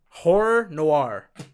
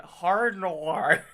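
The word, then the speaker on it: Horror Noire: Horror Noir. It's hard to say, I know. Horror Noir. You butchered that first time. You went hard noir.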